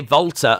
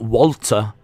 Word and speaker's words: Walter: stop start uh D why' you say vter and not Walter because uh he pronounces it that way as well whenever he talks that's how he says it's pronounced plus also uh in like Austria and Germany the W's are pronounced as V's but I have heard